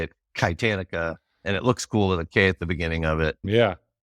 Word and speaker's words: Kitanica: And we spell it with a K instead of the CH so that people say it right.